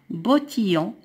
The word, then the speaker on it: bottillons: Elle a de jolis, S ne se prononce pas, bottillons. I-L-L-O-N se prononce ion.